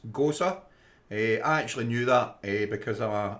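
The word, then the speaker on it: Gose: and ginger ghosa a ghost is spelled g-o-s for sierra e hey as they said ghosts go see but it's ghosa hey i actually knew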